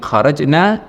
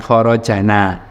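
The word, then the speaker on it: خَرَجْنَا: Kata kharajna, nah, nanya panjang ini, ya, yang berarti kita atau kami. Kami keluar ilal fuquli, menuju ke sawah. Ya, dari kata kharaja kemudian kemasukan dhamir atau kata ganti yang menunjukkan kami atau kita, ya, atau nahnu, jadinya kharajna bukan kharajana.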